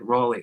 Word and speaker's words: Raleigh: do you pronounce it raleigh raleigh i've never heard that name that's cool are you is it like rolly like rolly holy roly-poly cool thanks guys and i